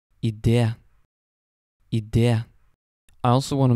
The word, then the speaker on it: idé: Very, very seldom you will also see an E with a little accent on the top. And basically what that means is that you add emphasis on the E sound.